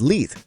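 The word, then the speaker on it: Leith: In many British accents, the pronunciation is literally the same because many Brits pronounce th as F or V, depending on whether a th is sounded in the given word.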